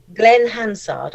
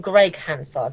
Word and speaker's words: Glenn Hansard: Glenn Hansard. I keep wanting to call him Greg Hansard, but Glenn Hansard has a cameo in it